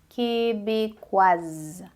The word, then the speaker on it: québécoise: É a mesma coisa que acontece com québécois, québécoise, ok? Québécois, aí a gente não pronuncia o S, québécoise. Aí o som, a adição do E dá som ao S fica québécoise.